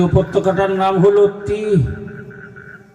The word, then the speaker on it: তিহ: যে উপত্যকাটার নাম হলো তিহ বাংলায় যার উচ্চারণ হলো তয় দীর্ঘই হ তিহ উপত্যকা এই তিহ উপত্যকা